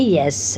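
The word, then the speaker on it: ja: যা মানে ইয়েস। আচ্ছা, উচ্চারণ হবে ইয়া। আচ্ছা, যাটা উচ্চারণ হবে ইয়া, ইয়া।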